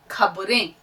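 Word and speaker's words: خ: खे, खे, बार बार बोलिएगा, खे, खे, खे, हलक से आवाज निकलनी चाहिए। देखिए साथ साथ जब तक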